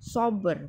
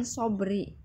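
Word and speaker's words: صبر: Sober, bukan sobri ya, ingatin Ibu itu. Jangan diulang lagi bacanya wal asri.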